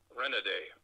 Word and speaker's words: Renaday: name the r-o-n-o-u-d-e-t name it's pronounced pretty much the way i spell the professional name renade originally but nobody says that